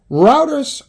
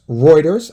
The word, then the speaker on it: Reuters: charges this is interesting routers Reuters I am sorry I know the pronunciation police are out there they're looking for me